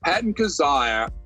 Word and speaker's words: Kizzire: Yes, Patton Kizzire.